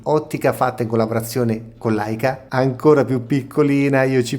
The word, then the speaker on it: Leica: Non so se riuscite a leggere questa scritta all'interno dell'ottica Leica, che tra l'altro si legge Leica, brand che non necessita